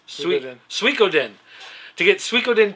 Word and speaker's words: Suikoden: Sony needs to light a fire under someone to get Sudoku 2 on the PSN. I love that Sudoku. I don't know if that's really how you pronounce that. Suikoden? Yes. Suikoden.